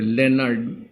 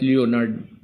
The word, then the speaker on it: Leonard: Itong Leonard kasi it's pronounced actually properly Leonard, not Leonard.